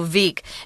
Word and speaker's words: Wieck: It looks like it's weak, but the Germans pronounce that W a V, so Wieck.